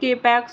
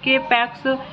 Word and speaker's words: K-PAX: After claiming he is in extraterrestrial from the planet Capax, 1000 light years away in the Lyra constellation, thought not capitalized and pronounced with a long O rhyming with bot, is committed to the Psychiatric Institute of Manhattan.